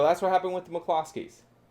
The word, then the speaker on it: McCloskey: evening america we are mark and patty mccloskey mccloskey that's how you pronounce it for those of you who are